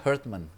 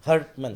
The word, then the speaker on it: Herdman: Nah jadi kalau kembali soal John Hartman ini, by the way bacanya Hartman. Hartman. Jadi kalau Hartman itu kan heart tuh keras. Keras. Jadi Hartman.